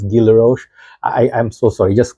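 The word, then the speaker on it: Guy Laroche: Drucker intense by I I always say this name wrong I says it looks like guyla rose but I think it's Gila Roche I I'm so sorry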